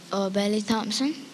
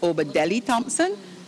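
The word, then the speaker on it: Obadele Thompson: So you didn't pronounce the name correctly. You were missing a part of it. And the answer is Obadeli Thompson, but the judge's decision is final.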